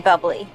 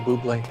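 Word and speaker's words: Bublé: for cooperating my favorite you mean bubbly no i mean you're michael buble that's a bubbly she's right michael buble it's pronounced boobly i know thanks davey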